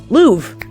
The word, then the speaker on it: Louvre: Oh god, it's spelled Louvre, but Jude actually told me how to pronounce it, and I don't remember. Louvre.